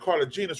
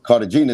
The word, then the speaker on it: Cartagena: Cartagena is actually, well, that's how you say it in Spanish, Cartagena, but in English it's Cartagena.